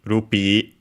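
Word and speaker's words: ルピー: rupee in Japanese uh with the long e rupee when we come back uh the audio becomes uh funny but that's not uh too bad.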